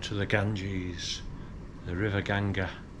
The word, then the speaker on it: Ganga: It's 1:30, driver's picking us up at 3:30, and we're going down to the Ganges, the River Ganga. You say it like that? That's what Indians call it. Yeah.